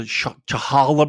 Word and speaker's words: challah: I want like how do you pronounce it? The challah bread.